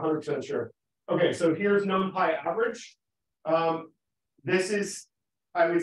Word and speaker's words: NumPy: And it is normally pronounced NumPy.